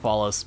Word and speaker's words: Fallis: Yeah, it's Lake Fallis because, you know, it looks kind of phallic-like. I just deliberately don't pronounce it like phallic because, you know, it's just, I don't want to sit there and have people constantly talk about it like that way and pronounce it that way. So calling it Fallis makes me be able to, like, pronounce it differently because it's not like